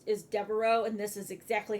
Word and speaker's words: Devereaux: The Devereaux vest. And I only know how to pronounce that because It is the last name for Blanche in the Golden Girls, if you've ever watched that.